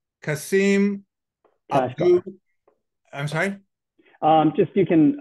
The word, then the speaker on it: Kashgar: It's Kasim Kashgar. I'm sorry? Just you can middle, like you can skip the middle name. Okay. So Kashgar.